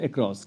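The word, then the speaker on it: across: जैसे स्पेलिंग अगर हमने लिखा CROSS, इसे आप बोलते हो अक्रॉस, ठीक है। ये ए जो है ये एक अनस्ट्रेस सिलेबल है, और ये जो है ये स्ट्रेस सिलेबल है, हम इसे बोलते हैं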